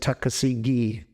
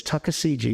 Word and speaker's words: Tuckasegee: I mispronounced that for years. I said Tuckasegee, but it's Tuckasegee, isn't it?